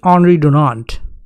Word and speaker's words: Henri Dunant: First of all, he is Swiss, so the pronunciation of his name can be Henri Dunant.